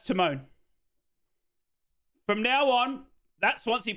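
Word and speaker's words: Tymon: It's pronounced time, is it? I'm sorry, it's spelt Timon. It's T-Y-M-O-N. That's Timon.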